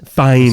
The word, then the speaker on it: Fiennes: I think it's Fines. Fines. how it's That's what I said.